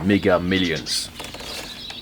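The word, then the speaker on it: Mega Millions: Je viens de découvrir un autre truc intéressant, un truc qui s'appelle Méga Million, enfin Megga Millions. Euh je le prononce avec cet accent parce que visiblement c'est un loto canadien et j'ai une date ici 1er mars 2003.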